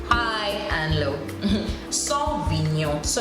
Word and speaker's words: Sauvignon: And I have the other one, which would be Sauvignon Blanc. Sauvignon Blanc. Once again, we don't concentrate on the N-O-N, Sauvignon, which is N-Y-O-H, Nyon, has a high and low, high and low. Sauvignon, so it's not Sauvignon, Sauvignon Blanc.